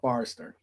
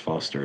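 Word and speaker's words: Forster: on their own all right it was uh Forester no way Razer Foster or Forester Forester Forester Forester it'ser yeah I heard him say the one is silent it's actually just pronounced Foster as well Foster okay yeah that's fine yeah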